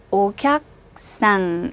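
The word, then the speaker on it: お客さん: 크자 뒤에 사행이 따라와서 붙으면 크를 쿠라고 발음하지 못하고요. 뒤로 밀어서 기역 받침처럼 발음합니다. 그래서 손님을 발음하실 때는 오캬상 이렇게 발음하시는 거예요. 일본에 여행 가시면 점원분들이나 일하시는 분들이 여러분들한테 옥약상, 옥약상 이런 말 많이 하니까 많이 들어보셨을 거예요.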